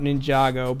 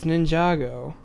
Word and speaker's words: Ninjago: good and I don't give two shits about Ninjago but like I kind of want to go see that movie after seeing the trailer because it looks pretty funny it's pronounced and lunge it goes no it's Ninjago and then they know I know this because